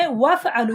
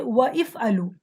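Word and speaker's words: وافعلوا: If you have any letter before that hamza, then this hamza will not be pronounced. If it is fa'ala yaf'alu, if you directly say if'al, but there is a letter before it, you're going to say waf'alu. You're not going to say wa if'alu.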